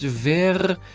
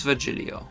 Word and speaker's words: Virgilio: It's pronounced Verhirio. Verhirio. No, I'm pretty sure it's Virgilio.